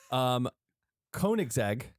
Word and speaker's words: Koenigsegg: Koenigsegg. Good job. They do pretty good. I think Koenigsegg. Correct me if I'm wrong. Koenigsegg.